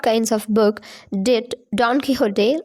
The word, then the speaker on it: Don Quixote: So it is a Spanish name, so we have to pronounce like Quixote, Don Quixote. So X will be pronounced like ha in Spanish.